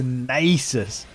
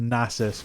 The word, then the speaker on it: Nasus: of some familiar faces the nasis iconic obviously is pronounced nasus but he's a bit